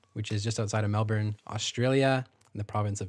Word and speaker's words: Melbourne: of Yarra Valley which is just outside of Melbourne Australia in the province of Victoria yeah thank